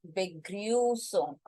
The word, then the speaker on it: Begrüßung: This is not B, Begrüßung is a wrong pronunciation. As I said, this is a special character, the set sign, which is equivalent to double S. The sound will be the S sound.